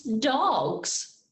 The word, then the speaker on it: dogs: It's dogs.